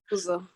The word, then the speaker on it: Uzo: Is it Uzo or Uzo, or how do I say it? Uzo. Uzo, fantastic. I thought so.